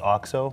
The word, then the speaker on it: OXO: So the name is pronounced OXO, one word.